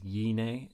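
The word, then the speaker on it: γυνή: So the gamma is not just silent in Greek, it's pronounced somewhere between a G and a Y. So this word is yine in modern Greek, and also the gamma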